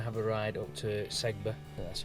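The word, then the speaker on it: Sedbergh: we're going to have a ride up to segba that's how you pronounce it cyber um it's just a role for me about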